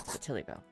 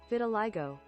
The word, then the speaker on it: vitiligo: Oh, it's vitiligo.